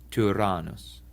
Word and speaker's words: Tyrannus: Finally, the Y sounds like the vowel in the French word tu or in the German über.